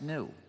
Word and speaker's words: gnu: countless word plays because according to the dictionary the G is silent and it's pronounced new so every time you